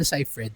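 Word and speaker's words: Seyfried: Say Fred tapos asawa ni Amanda si Brandon Clenar Brandon.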